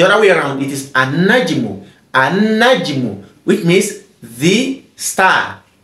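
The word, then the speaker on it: النجم: We are no longer saying al-najmu. Al-najmu. We said an-najmu.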